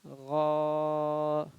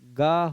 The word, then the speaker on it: غا: غین میں غلطی کیا ہو سکتی ہے کہ غا سے یہ گا ہو سکتا ہے، تو گا نہیں، حلق سے ہی غین کو بھی پڑھنا ہے. جو صحیح تلفظ ہے غین کا اس کو برقرار رکھنا ہے.